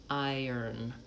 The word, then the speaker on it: iron: I, and then it's like earn, vowel and syllabic N. Iron. So it's almost the same as if I were saying the words I earn. I earn the money, I earn the clothes, iron. Stress is on first syllable, iron, and second syllable is reduced.